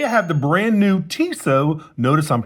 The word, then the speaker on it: Tissot: Today I have the brand new Tisso. Notice I'm pronouncing it correctly this time instead of Tiso.